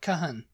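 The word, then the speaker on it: Cajon: to say that you know it's c a j o n Lun Lun is it I mean I mean why why don't you know like Cajun food why didn't you say that Kahan Kahan Kahan because it's not a Spanish word well isn't it it's just a u and an O he just placing an o with a u a you yeah well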